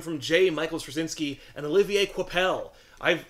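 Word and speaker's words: Olivier Coipel: the first volume from Jay Michaels shinski and Olivier quel I've said that name so many times over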